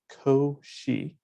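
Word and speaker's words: Cauchy: mathematicians of all time his name is pronounced ko she schwarz somewhat less prolific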